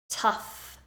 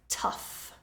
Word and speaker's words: tough: and that is tough tough this time the GH is pronounced like a f tough the hike up the